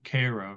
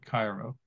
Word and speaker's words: Cairo: And it's interesting, in Illinois, Cairo, Egypt, the local people call it Cairo, not Cairo, because for whatever reason, that's how they pronounce it.